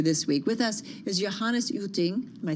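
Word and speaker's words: Johannes Jütting: With us is Johannes Uting.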